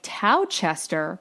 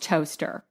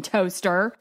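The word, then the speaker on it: Towcester: of toaster side note this town is spelled like tow Chester but it's pronounced toaster and at this point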